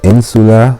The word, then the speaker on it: insula: Syllaba prima in, the first syllable is in, the second secunda is su, and the third tertia is la.